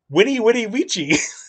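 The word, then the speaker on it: veni, vidi, vici: if you're like oh vinny vinnie vichy but if you say it in the actual latin the way it's pronounced the v is a w you guys winnie witty ouija it doesn't work well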